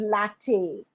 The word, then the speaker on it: LaTeX: as latex which is rubber actually but it's pronounced as Latin so what is Latin you know it's it's